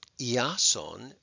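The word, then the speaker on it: Ἰάσων: this confusing is that iason which is the Greek way of saying Jason which is a Greek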